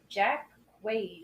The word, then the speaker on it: Jack Quaid: Jack Quaid, I think is how you say that name.